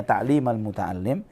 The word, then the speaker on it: تعليم المتعلم: Jadi kenapa bukan ta'limul muta'allim? Padahal kan judul Arabnya ta'limul muta'allim. Kenapa di sini dibacanya ta'limal muta'allim? Karena ini adalah kata ganti objeknya.